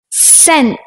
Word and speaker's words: scent: Like the letter C in muscle, scent, scissors. When we put C and H together, it sounds like ch.